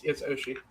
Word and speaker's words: Oshii: Oh, yeah, no, it's Oshii.